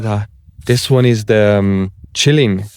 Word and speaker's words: Qilin: This one is the Chilling. This one's a Chilling. That's how you say it in Chinese.